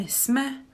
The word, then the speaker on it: jsme: We write them like this, but when we pronounce them, actually we omit the y at the beginning. So it's já jsem, ty jsi, vy jste, my jsme, oni jsou.